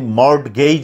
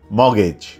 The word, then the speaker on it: mortgage: এখানে টি আছে, বানানটা হলো MORTGAGE, কিন্তু আপনি মর্টগেজ বলতে পারবেন না, বলতে হবে মর্গেজ।